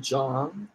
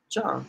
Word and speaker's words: Yang: big on no that's I don't think their names actually rhyme if you pronounced them how they pronounce them okay pronounce them correctly for me I think it's Kaitlin Jong and Jayla hang Jong and hang Kaitlyn Jong yeah okay so we're gonna